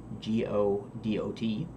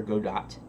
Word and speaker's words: Godot: I go through a little tutorial that imports a mesh into G-O-D-O-T, Godot, or Go-dott. And, in fact, maybe I'll just pronounce it both ways.